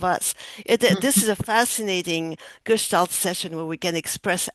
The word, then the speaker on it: Gestalt: I assume how do you pronounce it? Gestalt therapy? Gestalt.